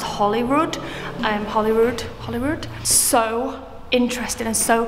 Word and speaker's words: Holyrood: I was saying Holyrood because it's spelled H-O-L-Y. But I think it's actually pronounced Holyrood.